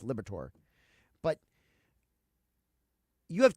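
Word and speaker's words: Liberatore: I always want to call him my Liberator because that's what his name looks like, but it's actually pronounced Liberator.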